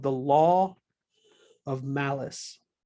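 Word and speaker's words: Malus: called the law of malice now it sounds like an evil equation but it's not spelled the same way it's not unfortunately it's not malice like evil is malice m-a-l-u-s a person's name the law of malice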